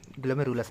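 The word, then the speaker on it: glomerulus: है अफरेंट आर्टल देखो जाएगा ग्लोम लस में ग्लोमर अस में ग्लोम लस बोलते हैं इसको स्पेलिंग है इसकी जी एल ओ एम ई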